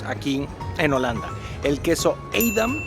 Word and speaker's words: Edam: en Holanda el queso aidam que es así se pronuncia en holandés y el queso jauda